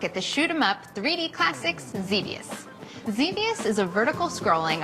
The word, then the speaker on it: Xevious: I guess that's why Xevious rhymes with devious.